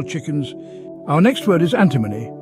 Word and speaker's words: antimony: pullets young female chickens our next word is antimony a n t i m o n y antimony a chemical element with the symbol SB